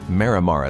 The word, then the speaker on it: Marimar: as the founder of Marimar Estate. That's my attempt at the Spanish pronunciation, but it can be anglicized as Marimar Estate.